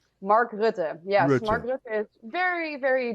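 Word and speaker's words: Mark Rutte: world economic forum too who's what's his name mark rude yes mark is very very deeply involved in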